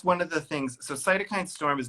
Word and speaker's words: cytokine: How do you No, pronounce that, Chris? cytokine storm.